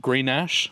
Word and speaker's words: Grenache: We've got Greek Grenache, I think is how you pronounce it.